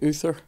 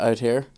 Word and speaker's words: Uther: let me say yeah you could say it like Uther instead of out here oh Uther the Uther